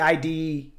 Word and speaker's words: id: Id I, is it the id? I didn't know. So you call it ID. ID, okay, it is ID.